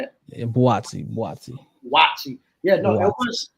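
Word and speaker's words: Buatsi: So with Callum Smith and Watsy, that's how you say it. Yeah, Boatsi.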